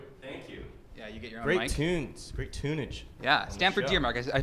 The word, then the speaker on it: Stamford Deermark: stamford dear mark gray Kunz great tunage yeah Stanford dear marcus i pronounce that correctly right you did okay uh